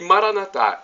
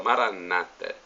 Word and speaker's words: Maranatá: E Maranatá é uma expressão que nós católicos damos a acentuação na última sílaba. Os nossos irmãos separados, os evangélicos ou protestantes, dão a acentuação na penúltima sílaba, Maranata.